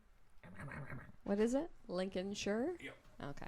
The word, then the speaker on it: Lincolnshire: No, no, Lincolnshire. Don't say shy. But that's how it's spelled. So what? Busyiness is spelled business.